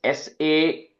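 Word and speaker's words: सध्र्यङ्: break it up clearly, it is sadryang, sadryang. Okay, ing sound at the end.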